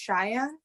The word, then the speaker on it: Shia: with us today hey my name is actually pronounced Shia like the tribe in Wyoming Cheyenne yeah I'm really happy